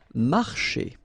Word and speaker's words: marcher: Marcher. Okay, remember when you combine this C and H here, you get the sound sh, marcher.